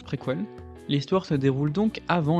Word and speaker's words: préquelle: Et oui, ça se prononce préquelle.